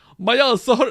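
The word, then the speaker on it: 毎朝: to remember it, and they involve rhyming with a naughty word like MyAsa, like an Italian guy whose butt hurts. MyAsa hurts every day.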